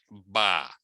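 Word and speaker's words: bas: Socks are ba. No, you don't really have to say it like that. It's just ba. Ba.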